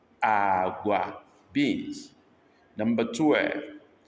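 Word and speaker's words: agwa: We have agua. This is low, low, agua, beans, agua, beans.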